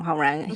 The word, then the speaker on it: Hongrang: So, the I don't want to get too too into the weeds, but basically uh Hong Rang, how you say his name? Hungrang.